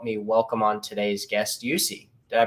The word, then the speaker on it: Jussi: something, and help me welcome on today's guest, Jussi. Did I pronounce that right? Yeah, Jussi.